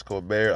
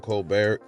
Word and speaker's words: Colbert: people calling chris colbert i'm just in the habit of calling him colbert you know like that guy steve colbert it's spelled the same way and then you hear you hear the ring announcers they call them chris colbert so i'm like okay c-o-l-b-e-r-t i believe that's a french a french name you